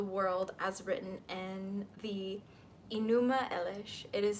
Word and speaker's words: Enuma Elish: creation of the world as written in the enuma Elish it is spelled e n u m a space e